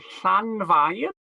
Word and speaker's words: Llanfair: And having looked at some of our other place names, you might like to have a go at pronouncing this place. So we have Llanfair.